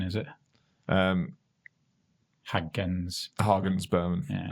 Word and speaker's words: Hagens Berman: Hangus Berman, is it? Hagens Berman. Yeah. Hagens Berman.